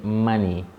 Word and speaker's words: Mani: name is and money money is not money as in cash money is spelled m a n i so and it's not